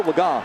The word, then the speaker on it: Laga: So the guy who was number three, Cooper Laga, and yes, I know we pronounced the name earlier a different way, but it's Cooper Laga, who had never thrown a pass, now they can celebrate.